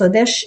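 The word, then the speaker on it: חודש: C'est la lune et le mois, ça veut dire Odesh en hébreu, on prononce Odesh et c'est le même mot en hébreu.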